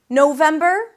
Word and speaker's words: November: November, three syllables as well, same ending, ber. Here we start with no, no, as in I said no. Then them, that's the primary stress, November, November. And then finally we have the month of December, December.